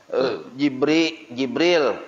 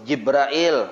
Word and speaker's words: Jibril: Jibril atau Jibrail atau Jabrail boleh dua. Boleh dibaca Jibril, boleh dibaca Jibrail, boleh dibaca Jabrail. Asal jangan trail yang salah.